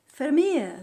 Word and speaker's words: Vermeer: Vermeer, that's how you say it in Dutch.